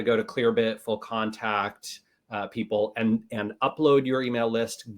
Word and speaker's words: Pipl: I think it's pronounced people, but it's PIPL.